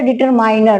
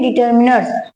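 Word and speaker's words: determiners: पहली बात तो ये जानिए कि जो डिटरमिनर्स होता है आप लोग बोले डिटरमाइनर। लेकिन ये डिटरमाइनर होता है। ये प्रोनाउंसिएशन पूरी तरह से गलत है। इसको हम लोग बोलते हैं डिटरमिनर्स।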